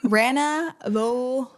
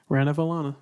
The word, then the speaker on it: Ranavalona: Let me see if I can pronounce her name again. Queen Ranavalona. Queen Ranavalona of Madagascar. Valona. She ran a race. She was Valone during it. The whole time. Ranavalona.